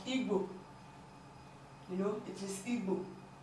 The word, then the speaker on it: Igbo: We have example like Igbo. You know, it is Igbo. You cannot pronounce G separately and B separately. No, the two of them is pronounced together.